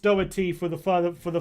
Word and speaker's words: Doherty: with an l by the way lads it's pronounced doherty for the further for the future videos classic